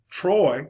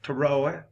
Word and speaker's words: Troy: So Troy, one syllable, Trojan, two syllables. Now that get kind of crazy down here in the deep south because depending on who you're talking to, Troy can become a two-syllable word, Troy.